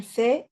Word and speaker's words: fait: Pero estas últimas letras no se van a pronunciar tal cual. La pronunciación de estas tres palabras es exactamente la misma. Je fais, tu fais, il fait, elle fait, on fait.